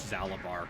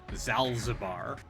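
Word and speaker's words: Zaalbar: And they still don't know how to pronounce Zalabar correctly. How do they pronounce it? They pronounce it Zalzabar. Zalzabar.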